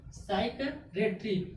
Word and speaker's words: psychiatry: जब P silent हो जाएगा तो इसमें क्या है, PSYCHIATRY, क्या हो गया, साइकेट्री। साइकेट्री मीन्स क्या हुआ, मनोचिकित्सक। यानी कि इसमें क्या, S से पहले क्या आ गया, P आ गया, तो P क्या हो गया, साइलेंट हो गया।